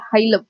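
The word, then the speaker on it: hilum: को हम बोलते हैं हाइलम. हीलम, हाइलम, जो भी आपको प्रोनाउंस करना है, इट is basically called हाइलम.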